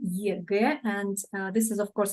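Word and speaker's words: ЕГЭ: I'm pronouncing it like in Russian one, EGE, and this is of course again abbreviation.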